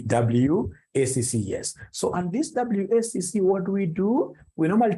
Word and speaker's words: WACC: companies you'll get somebody instead of pronouncing this thing professionally as WACC you'll get somebody calling it waka waka no no no that's very unprofessional it's supposed to be wcc is supposed to be